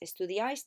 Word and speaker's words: estudiáis: Make sure you've got the accent on the ice bit. Estudiáis teatro.